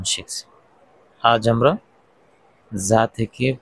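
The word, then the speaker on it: ز: যা জা যা এর মাখরাজ জিহ্বার আগা সামনের নিচের দুই দাঁতের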